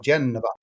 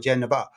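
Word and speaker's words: Genova: Uh that's the English pronunciation of Genaba. Uh which if you're in Italy and you see inside and you're in the uh Luria region, you will see signos for Genaba. um which is the Italian pronunciation but Genoa the football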